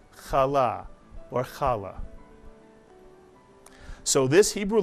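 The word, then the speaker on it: חלה: but rather kanuka and this word is not pronounced Chala but is pronounced kala or kala so this Hebrew letter the eighth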